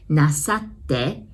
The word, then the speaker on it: なさって: So, how you pronounce なさって, the first part is just like NASA, you know, those space shuttle NASA. And then the last part is て, as in number 10's て.